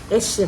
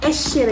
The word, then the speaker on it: Échiré: course sabihin ko muna kung paano siya ipr pronounce Okay so ito Sabi ni YouTube Okay esher y so esher B there you go yan yan esh bata